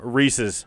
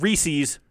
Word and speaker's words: Reese's: So Reese's. Reese's. Yes. It's not Reese's. Okay, it's Reese's.